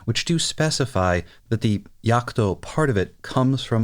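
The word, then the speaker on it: Jagd: this mobile suit that German word spelled j a g d is pronounced something like Yak which makes it very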